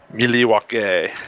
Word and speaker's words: Milwaukee: How's that pronounced? Milwaukee.